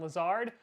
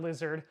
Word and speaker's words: Lazard: to sign wide receiver Allen Lazard yeah I said it right this time happy now not lizard so we were able